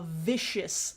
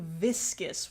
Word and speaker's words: viscous: It's fucking viscous. What do you mean a vicious liquid? And I know I shouldn't be shading because, like, I mispronounce stuff all the time, but it's viscous, not vicious.